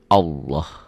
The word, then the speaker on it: Allah: Nih, lafaz Allah dibaca tafkhim, tebal, berbunyi Allah. Jadi kalau mengungkapkan ini seperti ada W-nya ya. Ini juga bukan seperti ini. Ini kan dibacanya Allah.